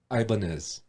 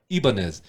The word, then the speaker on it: Ibanez: completely made that up another uh company brand that's been mispronounced ibanez ibanez was a spanish or it should be ibanez it's a spanish company that that made guitars